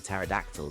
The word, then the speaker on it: pterodactyl: Why can't you hear a pterodactyl go to the bathroom? Oh yeah, that's right. You know the P is silent.